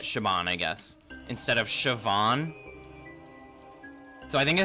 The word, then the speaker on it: Siobhan: like, oh, okay, yes, Siobhan. B equals V in Ireland. Oh, okay, I got you, I got you. So it is Siobhan, technically.